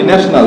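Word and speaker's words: national: কি বলি ন্যাশনাল হ্যা দেখো এখানে টি আই এর উপরে কি আছে আইওন আছে তাহলেটি এর পর আই থাকে তাহলে কি বাংলা স এর মত তাহলে স এর মত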